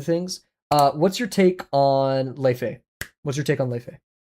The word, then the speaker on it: Laufey: What's your take on Leifei? What's your take on Leifei? Because her newest album, Leifei, it's spelled like Laufey, like Laufey.